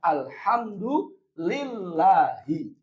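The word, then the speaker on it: الْحَمْدُ لِلَّهِ: Karena lafaz Allah itu mufrad. Maka bacanya alhamdulillahi.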